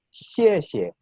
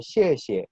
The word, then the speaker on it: 谢谢: Pero como existe esa regla y se aplica a este caso, sonaría entonces xie xie, ¿sí? Se fijan que la última sílaba de esta expresión suena un poquito más apagada que la primera.